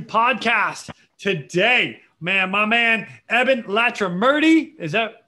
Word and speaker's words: Ebin Latrimurti: the real rescue podcast today man my man evan latra murty is that pronounced correctly by the way because i think